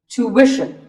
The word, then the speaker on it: tuition: But after that, it's not ishin, it's wishin. Tuition. You have to put the w sound there.